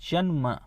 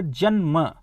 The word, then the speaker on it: जन्म: अब जैसे ये है जन्म, नियम है कि जैसे अब आप जब उच्चारण करेंगे जन्म, तो ये जो न है इसका भार किस पर पड़ रहा है?